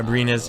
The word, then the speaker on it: Abrines: was OKC Thunder sign Alex Abrines. Who the hell is that? Abrinas. Yeah, Abrinas. Yeah. And then what the hell does that mean? Well, he says, great questions. Abrines is a former second-round